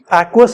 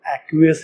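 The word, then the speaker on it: aqueous: एक्वस भी बहुत लोग बोलते हैं, बट मैंने भी वीडियो में 1-2 बार एक्वस बोला है, बट रियल करेक्ट प्रोनाउंसिएशन इसका एक्वियस ही है, तो एक्वियस ही बोलिए आप लोग, ओके।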